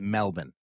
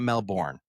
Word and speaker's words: Melbourne: I've heard, I mean, it is Melbourne. It is not Melbourne.